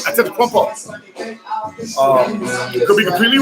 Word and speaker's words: Antetokounmpo: For those who don't know what I'm talking about Giannis Antetokounmpo, the dazzling forward center for the Milwaukee Bucks from Greece.